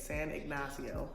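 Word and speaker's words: San Ignacio: San ignasio finally learned how to say it San ignasio honestly it was a very relaxing trip I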